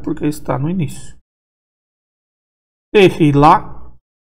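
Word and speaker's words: תְּהִלָּה: Tehilá também é pronunciado porque está no início.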